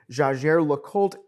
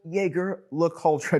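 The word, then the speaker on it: Jaeger-LeCoultre: next we have jlc jager look old jaeger look ultra different pronunciations same company same brand now jlc is is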